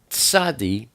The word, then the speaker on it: Tzadi: Tzadi is the number 90, and it's pronounced tz, not s like S, but you start to say a T and then you put an S behind it. Tz, tz, like tseet, tseet.